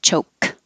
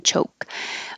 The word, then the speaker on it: choke: i and maintain cho you don't have to say the k choke just hold the k position choke the important thing is to keep the c h voiceless so there's no vibration in ch